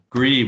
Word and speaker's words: Grebe: Grebe. We have the Western Grebes here in California. Is that how you pronounce your name? We actually pronounce the last E, so it's Grebe.